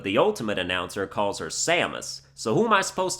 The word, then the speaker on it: Samus: melee announcer called her samus but the ultimate announcer calls her Samus so Who am I supposed to believe I just say samus because it's closer to how it would be pronounced in Japanese and that's what I